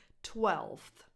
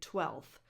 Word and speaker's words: twelfth: on dictionaries or online, 12th. But a lot of native speakers drop the F before the TH and just say 12th, just like they do in 5th.